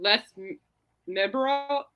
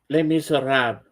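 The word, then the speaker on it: Les Misérables: Coming out of a portion of the festivities dedicated to Les Miserables. How do you say that? Miserable. How do you say that, James? What? How do you say that? Les Miserable? Les Miserables.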